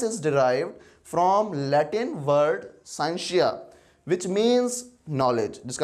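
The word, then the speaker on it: scientia: है जिसका मतलब है, जो कि लैटिन वर्ड हम यूज़ करते हैं साइंशिया, साइंशिया इसको पढ़ते होते हैं, डिफरेंट प्रोनाउंसिएशन में लिया जाता है इसको, लेकिन हम इसको साइंशिया पढ़ते हैं, विच मीन्स जिसका मतलब होता है नॉलेज, इल्म।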